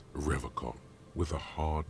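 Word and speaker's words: Revachol: on you said Revol I like to pronounce it the hard way the old way the vespertine way he nods solemnly he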